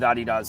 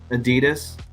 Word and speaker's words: Adidas: in meetings with with Adidas all of them do you say Adidas every time I see I say Adidas really wow okay yeah because honestly they're out of Germany that's how they say it oh okay thank you